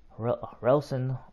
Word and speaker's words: Relson: All his children's names start with R's. But you don't pronounce the R. It's more like an H or a silent R.